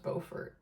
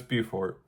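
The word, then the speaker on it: Beaufort: So I guess the two meccas of chaotic waffle houses is Bufort South Carolina and I think it's pronounced Bowfort. No, it's Bufort.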